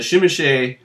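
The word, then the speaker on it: Tzimisce: were always weird looking that's how you pronounce that word by the way shim or zimy for the rest of us kind of a cool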